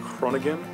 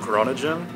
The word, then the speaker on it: Groningen: I'm doing the CIE program here in Groningen, or as I pronounced it when I was back home, Groningen.